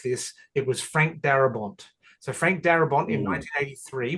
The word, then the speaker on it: Darabont: Yeah, it's Barabont. Is that how you say his name? Darabont with a D. Thank you.